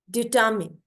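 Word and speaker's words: determine: डिटर्मिन, डिटर्मिन। ठीक है। R silent होगा, डिटर्मिन।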